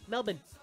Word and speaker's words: Melbourne: something I was passing through in Melbourne Melbourne Melbourne that's how they say it in Australia different